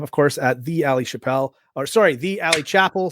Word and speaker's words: Chappell: Like, because Dave Chappelle was very famous, everyone's like, "Oh, your name's pronounced like his," and I'm like, "It's not.